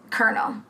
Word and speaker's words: colonel: was awakened by a phone call from his colonel and the colonel said which first of all